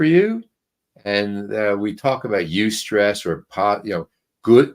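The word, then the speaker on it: eustress: called UST stress that's e u St ESS you stress and that's the good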